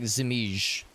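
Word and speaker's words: Żmij: It's not like you said Viper, but it's like Zimij.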